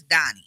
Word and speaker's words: Daugne: My name is Daugne, and I am your host. Yes, my name is spelled DAUGNEKEITH. It don't look like Donnie, but it's Donnie, okay?